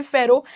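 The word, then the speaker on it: pharaoh: आपका जो चैप्टर हो गया डिस्कवरिंग टट, उसके आपको कीवर्ड्स पता होने चाहिए, that is an Egyptian king, जिसे हम प्रोनाउंस करते हैं फेरो, एन इजिप्शियन किंग आपको पता होना चाहिए, कहाँ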